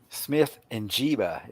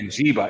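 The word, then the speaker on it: Smith-Njigba: I have a problem pronouncing his name. Smith Njiba, is it not? Yeah, Njiba.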